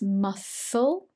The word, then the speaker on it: muscle: muscle cramps muscle notes the soft sound here is not a cur it's muscle and cramps and spasms